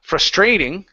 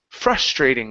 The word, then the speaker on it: frustrating: Instead of frustrating, the word is frustrating. The stress is at the beginning.